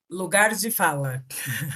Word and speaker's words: Lugar de fala: Lugar de fala. Lugar se fala. Lugar de fala.